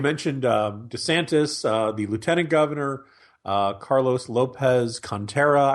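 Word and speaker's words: Carlos Lopez-Cantera: You mentioned DeSantis, the lieutenant governor, Carlos Lopez Contreras, I believe is how you pronounce his name, is running down there.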